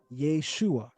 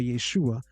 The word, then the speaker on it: Yeshua: and the vowel reduction of the medial syllable produces the attested form Yeshua.